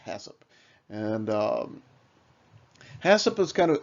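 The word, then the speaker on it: HACCP: we'll go on to hat hasip and it's pronounced hasip and hasip that's kind of has an interesting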